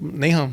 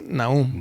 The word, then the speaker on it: Nahum: It's like, oh, Nahum. Nahum. Yeah, I kind of changed it up because I'm like, oh, it's in English now.